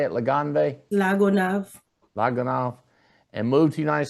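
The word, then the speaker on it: La Gonâve: Lagonav.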